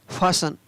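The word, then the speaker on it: fasten: LI का ली, S का स और N का न, टी का उच्चारण नहीं हो रहा है। FASTN फासन, तो यहाँ पर भी टी का उच्चारण नहीं है।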